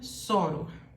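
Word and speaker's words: sóror: dificuldade de falar porque está com um acento aqui mostrando que é uma paroxítona terminada em R assim como revólver tem acento soro também tem acento E aí tem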